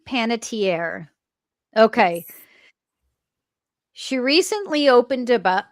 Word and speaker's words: Panettiere: How do I pronounce Hayden's last name? Panier. Panitier. Yeah. Hayden Panitierre.